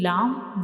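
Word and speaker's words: لام: Lamb. So when we read lamb, we will touch the tip of the tongue to the gums behind the upper to front teeth. So this is the pronunciation of lamb.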